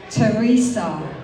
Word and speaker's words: Theresa: It's spelled with TN but there's no need to say the. It doesn't rhyme with Giza and the last bit sounds like S. When you count the syllables there are not two but three.